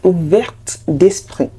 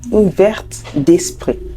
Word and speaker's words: ouverte d'esprit: And number 10, ouvert d'esprit and ouverte d'esprit. Ouvert d'esprit and ouverte d'esprit. So don't forget to pronounce the T because it's the feminine version.